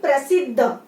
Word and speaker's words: प्रसिद्ध: बन जाता है प्र, और प्र आप लोग उच्चारण करेंगे तो पता चलेगा कि ये र है। ये क्या है, र है और ये इस तरह से जुड़ गया है इसलिए इसको बोलते हैं प्रसिद्ध।